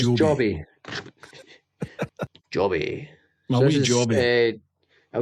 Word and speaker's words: Joby: This is it pronounced Joby or Jobby? I'm never Well, we're sure. Scottish, so we'll call it Jobby, but I think it is It's Joby.